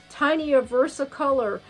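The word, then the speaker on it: tinea versicolor: but it's like um it's spelt t-i-n-e-a versa color they call it tiny a versa color and it really looks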